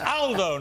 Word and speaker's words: Aldo: It's Aldo, not Aldo. Aldo's a very British pronunciation of an Italian name.